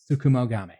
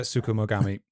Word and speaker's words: Tsukumogami: now, so I didn't want to try and pronounce it again. Give me 1 second. I can get it for you. The Tsukumogami. Yeah, Tsukumogami.